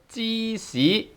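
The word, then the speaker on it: 芝士: And then we have another borrowed word, 芝士, 芝士 tone 1, 芝 tone 1, 士 tone 2, 芝 c. It's tone 1 and tone 2, and then we have 芝士, which is a borrowed word from cheese.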